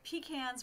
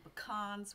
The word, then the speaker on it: pecan: grandfather gave, which is they're pecans when you pick them and pecans when you sell them. That's awesome. But the logic there is always focus on the needs of your customer. And 70% of Americans say pecans.